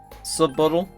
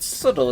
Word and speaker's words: subtle: did you just say sub bottle did you just think the word subtle is pronounced sub bottle angie's got it no